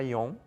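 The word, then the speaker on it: 四: Tanto que eles trocam a pronúncia para ion, né? Usam uma outra pronúncia quando necessário usar realmente o número 4, né? O simbolismo é o mesmo, né? A pronúncia... Exato. Eles mudam a pronúncia para não pronunciar, porque a questão não é o número 4, é a pronúncia que se usa, que é shi, né?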